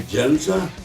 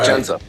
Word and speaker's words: Jendza: Am I pronouncing it right? Jendza? Yep, that's it. Jendza.